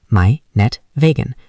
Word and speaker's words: Meinetwegen: Pronunciation, meinetwegen.